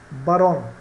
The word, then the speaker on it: barón: Barón, quando eu falo barón em espanhol, posso estar dizendo macho ou barão, tá? São homófonos.